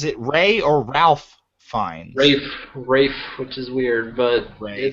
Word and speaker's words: Ralph: Pronounces it Rafe, even though there's zero. It's spelled Ralph Fiennes. He pronounces it Rafe.